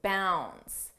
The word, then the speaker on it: bounds: talk about Leaps and Bounds notice how bounds the D is not pronounced bounds n bounce and